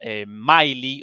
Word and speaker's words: Milley: Bakhmut, sino que incluso Mark Milley, o Milley lo llaman según según la pronunciación británica o estadounidense del inglés, bueno, el máximo general